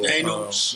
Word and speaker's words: Thanos: He asked me earlier, how you pronounce that song? T-H-A-N-O. Thanos.